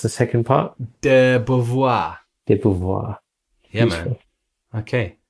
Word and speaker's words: de Beauvoir: How do you pronounce the second part? De Beauvoir.